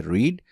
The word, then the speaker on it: read: है तो इसको हम प्रोनाउंस करेंगे रीड, और अगर पास्ट टेंस या परफेक्ट टेंसेस में हम इसे इस्तेमाल कर रहे हैं, यानी सेकंड और थर्ड फॉर्म के लिए इस्तेमाल कर रहे हैं, तो इसको प्रोनाउंस करते हैं रेड, लेकिन स्पेलिंग READ ही लिखे जाते हैं।